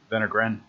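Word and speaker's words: Wenner-Gren: and private funding agencies vendor grant is an example of a private funding agency that's the one that begins with the w it's pronounced with v venegran and that is to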